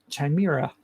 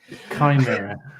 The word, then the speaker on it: Chimera: Project Chimera. Did I say it right? Perfect. Chimera.